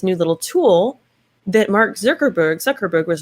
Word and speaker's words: Zuckerberg: work anyway um mark zuckerberg berserker how do you say his name thank you zuckerberg zuckerberg he and um